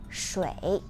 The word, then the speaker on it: 水: First, the pronunciation of water is 水.